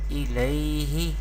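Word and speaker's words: إليه: The next word is hamza zer i, lam ya zabar lai, ilai, ha zer hi, ilayhi.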